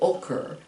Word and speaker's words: occur: And it has to do with if you put the emphasis occur, if it happens on the second syllable, occur. We don't say occur, we say occur.